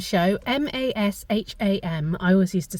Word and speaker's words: Masham: So that was the Masham Show, M-A-S-H-A-M.